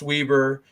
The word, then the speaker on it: Weber: offer scholarship offer to weber state it is pronounced weber don't say weber apparently that's a thing i mean and he's